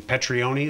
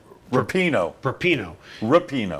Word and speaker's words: Rapinoe: Petrione, is that how you pronounce her name? The short-haired blonde girl? No, not Petrione. Rapinoe. Rapinoe. See, I got it wrong, but she is.